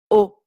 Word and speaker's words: aux: Donc AUX, ça se prononce tout simplement O, comme la lettre O. Donc 3 lettres pour seulement un son, O.